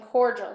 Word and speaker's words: cordial: And then So the I helps the D make the J sounding cordial.